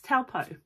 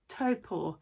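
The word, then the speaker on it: Taupō: Topo um and I will say I've always pronounced it as taupo Lake taupo but I did ask um out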